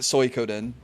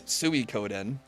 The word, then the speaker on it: Suikoden: And he pronounces it Suikoden when it's Suikoden.